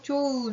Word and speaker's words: 좋은: 그러면 세 번째 조건까지 모두 충족하니까 요 히읗이 떨어져 나가는 탈락이 일어날 수 있겠죠. 자, 그래서 우리가 좋은 이렇게 소리가 나는 겁니다. 발음으로 좋은 우리 히읗 발음 나지 않고 탈락한다 라는 거 우리 확인할 수 있겠죠?